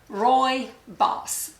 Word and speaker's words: rooibos: The next one is a tea, and I never knew how to pronounce it. R-O-O-I-B-O-S. So I Googled it, and several places said it's pronounced Rooibos, or like R-O-I-B-O-S-S.